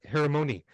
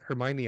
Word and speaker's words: Hermione: Phonetically, you're like, is the for the longest time I called her Hermione. And then when I saw the first movie and they're like Hermione, I'm like, that's how you say it.